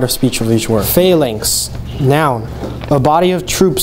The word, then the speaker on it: phalanx: Phalanx. Phalanx. Phalanx. Phalanx. Change the accent to the first syllable, please.